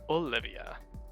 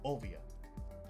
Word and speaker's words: Olvia: at the same time Robin's mom one Pico Olivia olvia olvia right sorry there's no either it is very specifically pronounced yeah yeah um she looks a lot